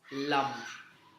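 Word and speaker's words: lam: for the root chakra which is lum spelled as l a m. In Sanskrit it is a l with a bindi on top of it and it is pronounced as lum.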